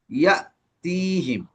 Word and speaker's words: يأتيهم: ওই যে হামজার উপরে জজম, তো ধাক্কা দিয়ে পড়তে হবে ইয়া তিহিম।